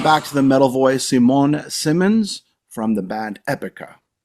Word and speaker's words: Simone: It's Simone, right? That's the right pronunciation.